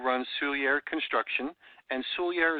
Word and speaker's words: Soulliere: silly air construction and Sully air is one of those names it takes you about a hundred times to figure out how to say it the right way it's sou ll ie ar e so it's easier to spell sou ll ie re and that's construction